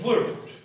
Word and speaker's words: would: वुड, अब वुड को वुल्ड पढ़ते हैं, ठीक है? सो it's wrong pronunciation, वुड।